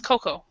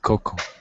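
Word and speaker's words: cocoa: Spanish Spanish yeah so in English we actually don't pronounce the a so it's Coco uh they right okay we remove the a Coco okay yeah we pronounce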